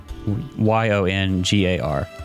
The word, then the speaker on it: Yongar: could you say his name again please youngar y-o-n-g-a-r yongar and this kid's name is olgar o-l-g-a-r